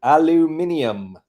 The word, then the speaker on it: aluminium: I dislike the word aluminum. that word. I pronounce it like the limeies do. Aluminium.